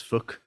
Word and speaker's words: Phuc: Anyway, there is this one character in the movie whose name is is spelled Phuc. Nice. Yeah, and they're from I think Japan, so his name is Fook.